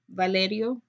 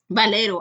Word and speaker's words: Valero: We when we were recorded this before, we discussed how he reminds me a lot of Valerio. Valero. Valero. I always get this guy's last name wrong.